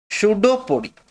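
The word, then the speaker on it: pseudopodia: यहां पर P silent है, शूडोपोडिया।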